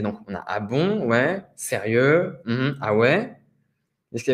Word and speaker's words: oui: Comment on prononce oui? Ouais.